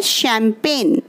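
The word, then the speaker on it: champagne: उसके बाद हमारा नेक्स्ट वर्ड है शैम्पेन। तो आप इस वर्ड को बहुत ध्यान से स्टडी करेंगे क्योंकि इसकी स्पेलिंग और इसको बोलने का तरीका बिल्कुल अलग है।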